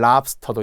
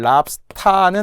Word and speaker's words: 랍스터: 그런데 이제는 랍스터도 인정. 단 주의해야 될 것은 랍스타는 아니라는 거예요. 우리가 자꾸 어를 아로 발음할 때가 되게 많아요.